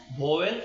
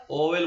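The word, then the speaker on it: vowel: सबसे पहले पढ़ते हैं भवेल और कॉन्सोनेंट भवेल नहीं बोलते बेटा ओवेल बोलते हैं ठीक है ओवेल v का उच्चारण v से नहीं ओ से बोलते हैं ठीक है ओवेल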